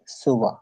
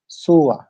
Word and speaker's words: সুব: সুবা তো পারা সুবা এখানে ধ্যান রাখতে হবে সুকে দীর্ঘ করা যাবে না যে সো আছে সৃদস্য কে দীর্ঘ উ এর সাথে করা যাবে না হ্রাস উকার আছে এইজন্য হ্রাস উকারে উচ্চারণ করতে হয় সুয়া সুয়া বলা যাবে না তো এই ছোট ছোট